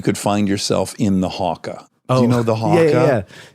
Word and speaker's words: haka: Is it pronounced haka? What do you say it as? The Haka? Yeah, I always thought the hacker. That's an English American thing, I think.